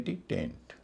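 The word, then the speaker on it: taint: टी ए आई एन टी टेंट। इन सब में ए आई सबके बीच में है और उसका उच्चारण हो रहा है ए। लंबा वाला ए ना कि ऐ।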